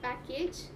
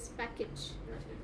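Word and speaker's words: package: park next is पैकेज the word is नॉट पैकेज इट इज पैकेज right you have an I coming into प्लेस पैकेज just like you had luggage you have पैकेज right next is photography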